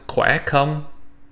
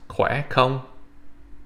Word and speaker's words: khỏe không: So the word it would be pronounced khỏe không. All right. So again, it would be pronounced khỏe không.